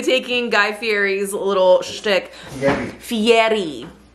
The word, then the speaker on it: Fieri: Fieri. Roll your R's.